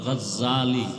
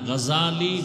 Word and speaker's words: গাজালি: না জাহাল নাম হলো ইমাম গাজালি বলে গাজ্জালি না গাজালি বিশুদ্ধ উচ্চারণ গাজ্জালিনা আর আল্লাহ